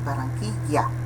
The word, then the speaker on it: Barranquilla: Aqui lembramos que a pronúncia de 2 L's com A continua sendo vocálico, né? Ya, né? Barranquilla, ok?